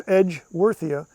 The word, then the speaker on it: Edgeworthia: And just like, spell it like it sounds, Edgeworthia.